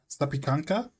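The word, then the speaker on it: zapiekanka: Pronunciation guide. How do you pronounce that? Wait, let's see. How do you pronounce that? Sapianka. Can you hear that chat? Sapianka.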